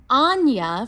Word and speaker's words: Anya: Yesterday I mispronounced our beautiful poet's name, and instead of saying Anya from Aurora, I said Ananya, so I apologize.